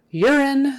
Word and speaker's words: urine: sample H lovely okay urine that first you now is um pronounced with kind of a y in front of it you are you're your so y e r you're even though it's spelled you you're in and um even though there's an e on the end that is still a short I sound urine urine urine and